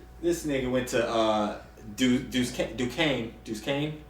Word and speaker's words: Duquesne: this went to uh Duquesne juice Kane how do you say it Ducane yeah same night I got